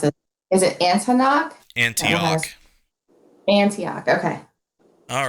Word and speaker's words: Antioch: got on the, and I'm probably going to mispronounce it. Is it Antioch? Antioch.